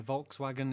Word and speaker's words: Volkswagen: it they always pronounce the w as w rather than the v um yeah volkswagen is wagon not vargan yeah it's it's one of them it's like british that's how we say it that's that's how it is it's like we're not